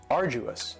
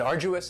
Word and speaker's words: arduous: And arduous has 3 syllables and the stress is on the first syllable. Arduous. Now you don't hear that D sound that much. It's not very strong. It almost sounds a little like a J.